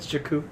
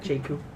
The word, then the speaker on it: Jakku: likely life and everything James jakku not Jacob yeah Oct Madonna chicken